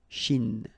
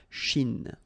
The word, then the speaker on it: Chine: mer de Chine, remember, don't insist on the E, Chine, okay, and then this CH, sh, Chine, all right, la mer des Antilles.